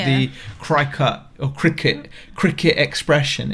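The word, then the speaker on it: Cricut: the kker or Cricket cricet Expression it's called and yeah cuz we kept saying it wrong didn't we yeah we kept saying fry cka is cricet apparently like cricet the cricet expression and this thing is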